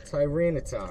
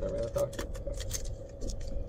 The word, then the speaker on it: Tyranitar: Tyranitar, right? That's how you say it, Tyranitar?